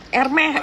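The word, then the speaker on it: Hermès: Hermes itu Ermeh. Erme bacanya herme.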